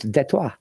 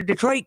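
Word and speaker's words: Détroit: lovingly call it, destroyed, in French it's Detroit.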